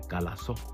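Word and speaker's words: χαλάσω: Luego Pedro dice otra palabra que viene del griego que se pronuncia calazo.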